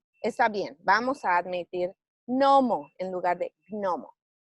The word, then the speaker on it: gnomo: anuncian otra vez deberían debería de pronunciarse como hay una que antes pero se pronuncia gnomo y como ya ah